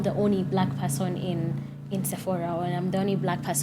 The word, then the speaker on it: Sephora: And like say Sephora, or how do you pronounce it? Sephora.